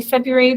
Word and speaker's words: February: this my Feb February we say February but there's a silent there's an r in there that we don't really pronounce same for library library